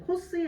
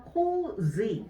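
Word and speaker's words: 洪水: 코스이 아니죠. 코지. 정답은 2번을 넣어주시면 되겠습니다. 그래서 요거는 코스이라고 이렇게 되면 향수가 돼버려요.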